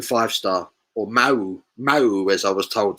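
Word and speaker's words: Mahou: heineken or paulana or mahu five star or mao mao as i was told to say you pronounce it in spain mo you don't pronounce the h me i'm like another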